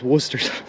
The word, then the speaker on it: Worcestershire: sauce worcestershire have you ever wondered how to pronounce it it's worcestershire not an ohio ufo not in ohio not